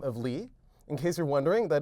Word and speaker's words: Lie: Lie Groups are named after a mathematician by the last name of Lie. In case you're wondering, that is spelled LIE. If you pronounce it lie, that's incorrect and quite problematic.